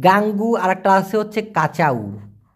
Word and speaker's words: kacau: তবে উসিক, গাঙ্গু আর একটা আছে হচ্ছে কাচাউ, KACAU, উচ্চারণটা হবে কাচাউ।